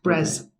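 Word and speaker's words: Bres: about this guy right spell it b-r-e-s brez right and I want you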